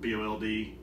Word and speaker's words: boiled: you know early in the harvest uh it's bold peanuts now spelled b-o-i-l-e-d but in the south we pronounce it mold or bold bowl peanuts so that's how pronounced all right